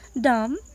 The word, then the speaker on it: dumb: Dumb, B is silent here.